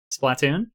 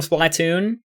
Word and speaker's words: Splatoon: Splatoon? Splatoon. Splatoon, come on. It's like Platoon, but Splatoon.